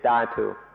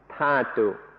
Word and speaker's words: dhatu: or tat i'm sorry in english it's usually spelled d-h-a-t-u and so i sometimes say datu in thai it's pronounced tatu so that's why i